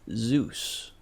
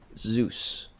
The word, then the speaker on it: Zeus: how do you say Zeus it's like Zoo like the New York Zoo where they keep animals with an S sound at the end Zeus rhymes with Caboose or couscous or juice Zeus juice closing Olympus is